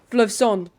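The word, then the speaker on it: Fontaine: to go to fland I'm pronouncing it the real French way FL a real French person would not even say the re e at the end it would just flon like this see you yeah we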